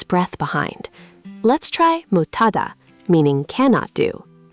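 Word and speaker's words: 못하다: In mut, the final sound is actually d, because s as a batchim becomes d. Remember that rule? Oh, right. So, it's really mot than hada. So, d plus h becomes t. Motada.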